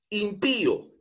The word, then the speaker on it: impío: Por ejemplo, impío. Esta palabra lleva tilde en la i porque es una palabra aguda. Pío, impío lleva la mayor entonación de voz en la última sílaba, pío.